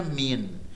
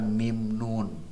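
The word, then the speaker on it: من: Ya, contohnya adalah kita membacanya min, bukan mim nun, tapi min karena huruf ma'ani ini terdiri dari dua huruf hijaiyah, maka dibacanya langsung min, bukan mim nun.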